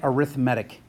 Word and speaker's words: arithmetic: add its arithmatic and I totally get this is spelled like arithmetic but you say it arithmatic if it's adding or